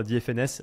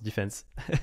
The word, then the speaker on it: Dfns: Alors, moi, je prononçais tout le temps DFNS avant que j'aille sur la page Welcome to the Jungle et que je vois que ça se prononce defense.